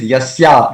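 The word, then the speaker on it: यस्य: It is Yasya. It is not. It's a long a here. It's not short a.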